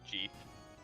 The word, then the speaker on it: Jeef: As everyone should know, the way he prefers his name to be pronounced is Jeef. A lot of people say Jefe for the Spanish, but he's from Louisiana. He prefers Jeef.